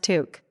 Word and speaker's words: toque: When the harsh winter hits, Canadians don't wear beanies or knit hats, they wear a toque, pronounced to͞ok.